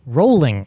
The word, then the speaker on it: Rowling: her name jk rowling rolling rolling rolling yeah how do you say the word bowling boolean yeah and so if